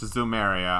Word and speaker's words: Zemuria: It's really spelled Zemuria, even though it's pronounced Zumeria.